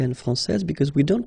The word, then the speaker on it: française: Okay, so français here, you get this final S that you don't pronounce, so français. And then when you put this final E here, you will get française.